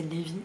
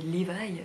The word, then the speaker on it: Levi: coup dans ma tête je prononçais Levi et là en fait la dame de l'audiobook elle dit Levi, ce qui est la bonne prononciation mais je n'arrive pas à le prononcer.